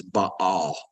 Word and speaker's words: Baal: and now remember we I use the term Baal the actual pronunciation is but all okay and a ball